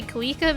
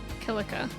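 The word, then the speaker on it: Kilika: I always want to say Kika, but I think they pronounce it Kilica.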